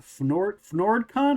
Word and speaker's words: FnordCon: So you have upcoming, you mentioned you've got a convention called FnordCon. Am I pronouncing that right? Yes, you're pronouncing it exactly right.